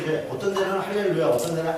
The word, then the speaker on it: 할렐루야: 원래 발음상으로는 이제 어떤 데는 할렐루야, 어떤 데는 알렐루야 그래요. 그래서 알렐루야는 뭐고, 어떤 사람도 놀렐루야 그러는데 알렐루야는 뭐고 할렐루야는 뭐냐 같은 거예요. 우리가 여호와 야훼 역시 발음 차이예요. 근데 아마 발음상으로는 알렐루야 쪽이 조금 더 가까울 거예요.